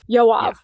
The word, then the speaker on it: Yoav: I don't want to mispronounce his name. Is it Yoav? Yoav.